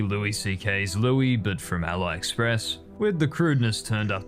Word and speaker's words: AliExpress: We'd go through he pronounces AliExpress Alli Express. Is that how people pronounce it? Isn't AliExpress pronounced AliExpress? Not Ali Express. We got retroactive. Is that how you pronounce AliExpress? I thought I thought it's Ally. It's Ali.